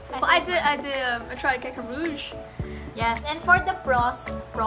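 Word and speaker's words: Caca Rouge: yeah, so I tried the Lush Kaka Maroon and Maroon? Is that how you say it? I It's think not maroon? Okay. I Well, I think tried Kaka Rouge.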